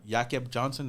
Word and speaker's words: Jakob Johnson: Jacob Johnson or Jakob Johnson, that's how you say his name, is going to be our fullback.